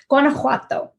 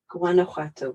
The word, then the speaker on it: Guanajuato: I said it right I'll give you my pronunciation and it may or may not be completely accurate Guanajuato Guanajuato okay cool thank you and that is where